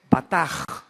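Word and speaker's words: בטח: La palabra confiar es la palabra hebrea batach, así se escribe con B de burro, batach. La CH en hebreo se pronuncia como J, o sea, es bataj.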